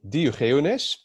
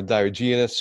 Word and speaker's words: Diogenes: My reviewer name is Diogenes. Just a Dutch pronunciation, or Diogenes for the English audience.